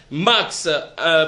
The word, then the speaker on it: Maxe: Prod, c'est ça qui veut dire Max. C'est pour dans la prononciation, on a toujours dit Max. Donc c'est M-A-X-E, qui veut dire mentalité d'analyse d'une production évolue.